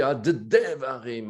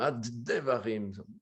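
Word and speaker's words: הַדְּבָרִים: Quand on met un point d'Agesh à l'intérieur, c'est comme si en français, on devrait écrire H-A-D-D-E, 2D, quoi. Hein. Donc, on redouble la lettre Dalet. C'est comme si Hadevarim, Hadevarim.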